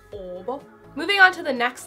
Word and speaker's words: Åbo: For example, the Finnish city Turku in Swedish would be Åbo, which is Swedish O-B-O, and it would just be pronounced Åbo.